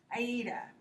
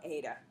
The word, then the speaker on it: AIDA: alternative is something called, and I purposefully mispronounce this because it makes it easier to remember. Okay. AIDA. It's really called AIDA, but I like to pronounce it so that each letter in the acronym is more consciously observed or heard.